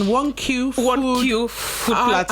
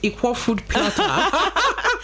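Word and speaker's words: Iquoh Food Platter: That's the right pronunciation. 1Q Food Platter. I've always called it Equoh Food Platter.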